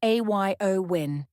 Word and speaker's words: Eowyn: of significant flight disruptions the storm named ioin pronounced a yo win is the fifth of